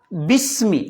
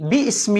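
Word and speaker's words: بِسْمِ: എന്നാൽ ബിസ്മി, ബി ഇസ്മി എന്ന് പറയുന്നില്ല. എന്തേ കാരണം? അത് കൂട്ടി ഓതുന്നുണ്ടാ അല്ലേ.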